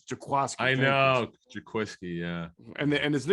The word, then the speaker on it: Jaquiski: i know i always i always pronounce it the way it's written but it's jaquasco i know yeah and